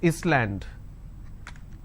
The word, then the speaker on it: island: For example, I don't pronounce this as Island, so s is silent.